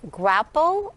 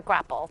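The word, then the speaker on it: graupel: form of snow snow can also precipitate as grapple or sleet i am not familiar with that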